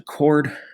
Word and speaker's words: chord: talk about a chord I know it's about CH but it's still pronounced a chord and so a chord